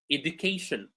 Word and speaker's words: education: For words in English that end in shin, like information, education, adaptation, uh, uh, manifestation, the stress goes on the syllable that is before shin. Information, we have shin, before it there is may, so may receives the stress. Education, k before shin, so k is stress.